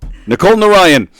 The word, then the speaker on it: Nicole Narayan: This is what we're talking about with Nicole Narayan. Yes. I said it right? Yes. Nicole Narayan.